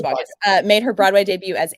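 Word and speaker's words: Boggess: Sierra Baucus. Sierra Bogus. Yes, it's true. So, like, I've never known how to say her last name. I think Sorry, it's Sierra. Bogus. I'm pretty sure it's Bogus.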